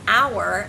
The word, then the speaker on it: hour: Another example is when you have a word that starts with a silent consonant. For example, the word hour, as in what hour of the day is it?